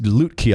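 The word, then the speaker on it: Lütke: this regard shopify um tobias loot key i believe is the way to to pronounce the last name so uh this is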